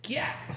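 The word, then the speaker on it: gyat: it's a big booty pronounced like Yachts but with a G why what when they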